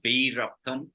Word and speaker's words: Veerappan: it's Veerappan.